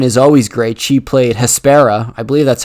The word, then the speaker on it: Hespera: She played Hespera.